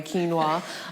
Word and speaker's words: quinoa: So one of the biggest sources of protein is quinoa, or quinoa. So I think everyone pronounces it different. I pronounce it the right way, quinoa.